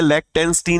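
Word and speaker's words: Liechtenstein: लेक्टेंस्टीन, ऐसे पढ़ो, लिक्टेंस्टीन, याद रहेगा मेरे भाई। ओके, इसका प्रोनाउंसिएशन ये लिक्टेंस्टीन, लिक्टेंस्टीन। फाइन।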